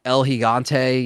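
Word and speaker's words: El Gigante: the like the the El higante you know that's what you're supposed to pronounce it is uh if it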